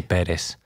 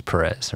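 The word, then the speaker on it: Pérez: Of course, I have a Spanish community I serve, so of course it's Perez, and I'm half Cuban. So It's definitely Perez, the right way to pronounce it. But, you know, growing up in the U.S. and on Dallas and then Houston, it's always Perez, right?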